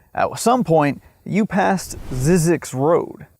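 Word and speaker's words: Zzyzx: of the alphabet California has a town called Zyzix, pronounced Zyzex. If you've driven from Southern California to Las Vegas or from Las Vegas to Southern California, at some point you passed Zyzix Road, spelled Z-Z-Y-Z-X, which is an extremely odd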